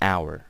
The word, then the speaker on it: hour: an honor meeting you sir or it's an hour okay so an honor an hour we use an but if the H is pronounced normally like for example I could say